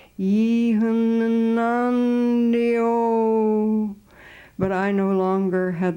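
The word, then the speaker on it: Yonnondio: It truly had a dirge, a wail sound, a lament for the lost. When he said it, it was something like, Yanandio.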